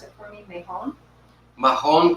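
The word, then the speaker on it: Mahón: And then we have Mejón Parado. Am I saying that right? Mejón. This is Manchego. This is Petite Basque. And then this is, do you want to pronounce it for me? Mejón? Mahon Curado.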